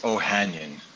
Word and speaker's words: Ohanyan: And, give me the correct pronunciation of your last name so I don't mispronounce it. Sure, it's Ohanyan. Ohanyan, that's easy.